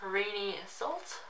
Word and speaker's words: Renee Salt: She pronounced it as Rini Salt. That could just be by her accent. She is Polish. As I'm reading her name, I see it written or pronounced as Renee Salt.